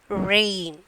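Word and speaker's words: reign: How we are pronouncing rain? Rain only we are pronouncing, isn't it? Which letter is silent? Can you identify that? G. We are not pronouncing Regine like that. Rain. Rain only. That rain is different. Okay. This rain is different. So, rain. G is the silent letter.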